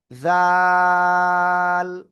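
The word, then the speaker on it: ذال: জিহ্বার আগা উপরে দুই দাঁতের আগায় লাগাবো, লাগিয়ে আমি নরম করে তিন আলিফটা নিয়ে উচ্চারণ করব, জাল।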